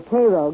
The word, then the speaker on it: Cairo: Oddly enough, though, Illinois is sometimes referred to as Egypt because the fertility of the soil in and around Cairo, or Cairo giving it the Illinois pronunciation, resembles that of its Egyptian namesake.